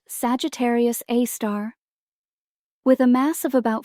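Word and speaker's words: Sagittarius A*: At the very heart of our Milky Way, lies a super massive black hole named Sagittarius A, pronounced Sagittarius A star.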